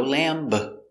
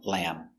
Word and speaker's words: lamb: i don't eat lamb and the bee is silent no lamb finish with the m sound lamb and remember lamb is